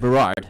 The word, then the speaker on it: Berard: Now, the plan for today, now that we got that out of the way, we are here highlighting Berard. Am I pronouncing that right? Berard. Berard, okay.